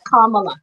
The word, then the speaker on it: Kamala: And in fact, Kamala is like a comma, Kamala.